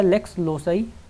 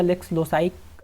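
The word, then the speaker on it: lex loci: एक तो होता है लेक्स लोसाई, तो लेक्स लोसी या लेक्स लोसाई अलग अलग जगहों पे अलग अलग प्रोनाउंस करते हैं, और दूसरा होता है लेक्स ओदी।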